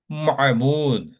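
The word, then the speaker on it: معبود: আর অ্যারাবিকের উচ্চারণটা সুন্দর করে বলতে হলে বলতে হবে আবেদ, মাবুদ।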